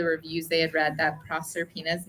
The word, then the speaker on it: Proserpina: And Is I it think that's what- Proserpina? Proserpina, yeah, Proserpina.